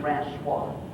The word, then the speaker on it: Francis: we come from France they told me how to pronounce it in French so my name's really supposed to be friends Squad that sounds a little